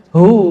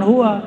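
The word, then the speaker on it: هو: Hu bacanya hu jangan hua kecuali disambung.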